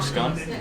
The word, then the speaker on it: scone: a scone or a scone. And people will argue about this, but I call it a scone because it's spelled like a scone.